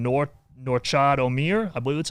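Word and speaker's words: Nortchad Omier: what's going on with I believe you pronounce his name Norchad Omier.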